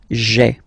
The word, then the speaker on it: j'ai: you get this sound j'ai, okay. So j apostrophe ai. Remember, when you combine this a-i, you get the e sound, okay?